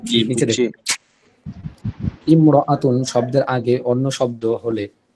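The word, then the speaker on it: امرأة: এই যে আলিফটা আছে, এই আলিফটা শুধু লেখার সময় আসবে, উচ্চারণে আসে না।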